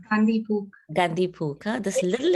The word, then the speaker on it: Gandhi Puk: How do you pronounce that? Gandhi Pook, right? It's Gandhi Pook.